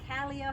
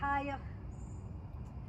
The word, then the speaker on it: cailleach: In Scottish Gaelic, the word for old woman is cailleach, sometimes pronounced cailleach or cailleach.